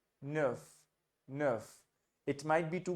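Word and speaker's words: neuf: say n n n wherever you have EU you have to round your lips and you have to say uh Nerf Nerf it might be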